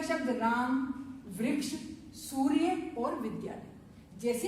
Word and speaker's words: रामः: जब उच्चारण करेंगे आप तो विसर्ग से काय की आवाज निकलेगी, आपके ह की आवाज निकलेगी। आपका हिंदी का शब्द राम, वृक्ष, सूर्य और विद्यालय,